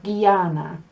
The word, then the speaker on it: Guyana: And Y acts the same. So you have Guyana.